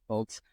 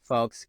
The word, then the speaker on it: Foulkes: It's Folks, spelled differently.